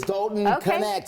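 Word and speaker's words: Dalton Knecht: it is the cas oh they do pronounce the k it is doton connect here and he has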